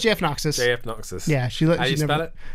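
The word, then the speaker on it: JFKnoxus: No, it's JF Noxus. JF Noxus. Yeah, How do you spell it?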